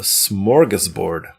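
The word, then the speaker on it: smorgasbord: a smorggas board of things." How much did I butcher that? You did pronounce it correctly for the English way.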